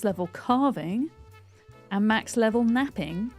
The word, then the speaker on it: knapping: And today, we're going to try and get max level carving and max level napping spelled with a K. Napping with a K, not with an N.